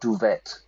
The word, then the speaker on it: duvet: Duvet, not duvet. Duvet. In English, we use the French pronunciation.